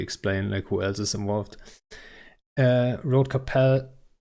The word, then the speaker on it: Rote Kapelle: Road Capel, or Rote Kapelle, if you're German, you would say it like that.